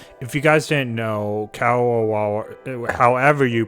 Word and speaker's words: Kadokawa: If you guys didn't know, Kadokawa, however you pronounce it, I always used to call them Kodaka, but I already know that's not how you pronounce it.